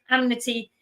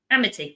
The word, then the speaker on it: Amity: He the mayor would rather chase the petty criminals that vandalized the amnity. Amnity. I said it right, didn't I? Amity.